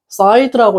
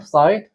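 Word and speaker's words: Syed: 자, however, this is the true story of Matthew Side라고 읽어야 되네요. Side. 매튜 사이드, 맞네요.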